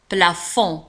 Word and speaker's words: plafond: لاحظوا على أن plafond تنتهي ب D ولا تنطق plafond.